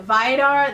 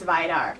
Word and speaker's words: Vidar: going to be reviewing vide are the vampire I think it's pronounced abide are it just came out